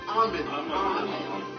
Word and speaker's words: amen: And it's pronounced amen. Not amen.